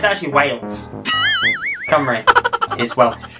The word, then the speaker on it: Cymru: Simru. Nope. That's your first try. Simru? Nope. Kimru? Nope. How do you pronounce that? And that is pronounced Cymru.